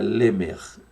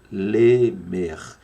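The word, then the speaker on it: לֶמֶךְ: na sua tela aí que seria Lemer devagar para que você possa pronunciar junto comigo Lemer Lemer Tem sim aquele gutural Zinho lá no final tá então Noé filho de lamec do hebraico Lemer Nasceu mais de 1000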